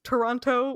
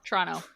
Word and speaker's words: Toronto: it's like one syllable you only pronounce one t if you're lucky usually it's a CH yep but yeah Toronto